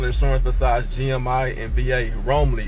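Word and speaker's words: Roamly: Romley, it's spelled R O A M L Y.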